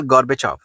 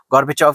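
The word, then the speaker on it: Gorbachev: Reform plans of मखैल गॉर्बेचोव। जो मखैल गॉर्बेचोव थे, इन्होंने काफी इंपॉर्टेंट, गॉर्बेचोव कहना गॉर्बेचेव है, बेसिकली प्रोनाउंसिएशन में फर्क है क्योंकि रशियन नाम है।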